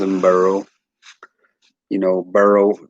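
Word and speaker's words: Burreaux: him boro you know burrow and spell it b-u-r-r-e-a-u-x that actually may be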